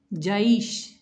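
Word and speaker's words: جَيْش: Jaish. Ya is silent and it's followed by fatha. it makes lean. Jaish, I, Aish sound of ya is pronounced.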